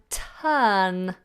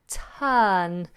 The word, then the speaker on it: turn: have in this example we have turn turn another silent ah and the example sentence